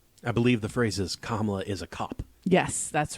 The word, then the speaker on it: Kamala: fox news i just it's not that hard all the a's have the same sound it's kamala there's no you don't have to do anything um oh sorry wait